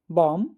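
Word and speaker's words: bomb: टॉम बॉम कॉम आया समझ?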